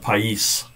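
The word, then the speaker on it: παῖς: "Child," that's that first Greek word there, child, pais.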